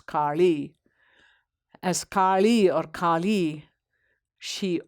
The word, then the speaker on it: Kali: And as Kali, or in South India, we use the retroflex sound La, so she's Kali.